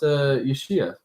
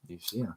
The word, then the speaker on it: Yeshua: Either way, so yeah, it's actually pronounced Yeshua. Yeshua.